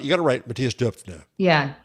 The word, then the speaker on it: Döpfner: I don't know how to pronounce his last name. You got to write Matthias Döpfner. Yeah, Döpfner.